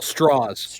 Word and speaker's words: Strauss: He doesn't like the German sounding pronunciation of his name. Strauss. I'll say it like that then. He does the southern straws.